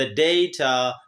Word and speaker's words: data: टू से नाउ द डेटा are being transferred to यू। इन A nutshell अगर मैं मुख्तसर बोलूँ तो बात यह है कि ये वर्ड ब्रिटिश डेटा और अमेरिकन्स डाटा प्रोनाउंस करते हैं, और ये नाउन